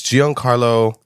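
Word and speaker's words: Giancarlo: pronounce his name you just forgot how to pronounce his name it's Gian Carlo I thought it was Esposito but it's pronounced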